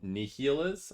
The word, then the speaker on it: Niles: It is Niles then, is how it's pronounced.